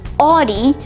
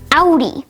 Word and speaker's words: Audi: It's commonly mispronounced as Audi, but it's actually pronounced Audi.